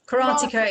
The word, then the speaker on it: karateka: right in saying that you're a karate karateka janice is that how you pronounce it yeah karateka is is the name